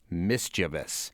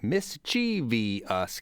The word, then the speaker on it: mischievous: Street are wondering about the official and possible deviant pronunciations of the word mischievous the majority of us are in the mischi US camp while certain others are of the mischevous sect which I guess I am cuz that's how I read it is there maybe a